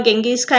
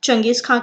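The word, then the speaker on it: चंगेज़ खान: चंगेज खान, गेंगिस खान, ऐसे अलग अलग नाम हैं इनके, लेकिन मोस्टली ये नाम चंगेज खान के नाम से प्रोनाउंस किया जाता है।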